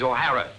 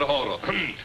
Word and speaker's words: O'Hara: do you remember saying my name is not for horror it is o'hara here mr o'hara yes mr horo but do you remember